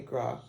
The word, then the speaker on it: Gras: French and Gra and you notice that the S is silent g-r-a-s gra means fat